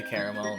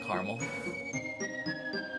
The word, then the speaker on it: caramel: Caramel, but like The the second a definitely just gets kind of swallowed up. Oh god. You say caramel, not caramel.